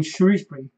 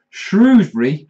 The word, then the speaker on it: Shrewsbury: I used to live in Shropshire, yeah, and there's this weird thing in Shropshire where they think shrew is pronounced shrow, yeah. Now, screw isn't pronounced scrow, yeah. So Shrewsbury cannot be pronounced Shrewsbury. You don't say I'm going to scrow your scrutum. It annoys me, it really does.